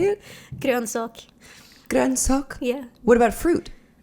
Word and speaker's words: grönsak: Grönsak.